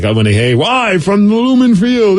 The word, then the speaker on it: Lumen: Someone says you can say it like Seinfeld said, Newman. So Lumen. Lumen.